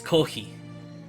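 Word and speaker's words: コーヒー: It's kohi. Oh yeah, they coffee because they don't pronounce that.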